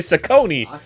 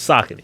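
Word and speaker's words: Saucony: pronouncing the name right people would say Sone he said he said no it's sakon sakon yes for the record I've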